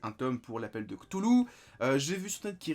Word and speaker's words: Cthulhu: Ou alors, en théorie, il faudrait pas prononcer le Cthulhu, il faudrait dire Hulu ou Kulu.